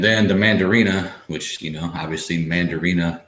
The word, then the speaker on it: Mandarina: And then the Mandarina, which obviously Mandarina kind of rhymes with Mandarin.